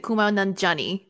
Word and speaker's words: Kumail Nanjiani: Kumail Nanjiani. There's three syllables to that name.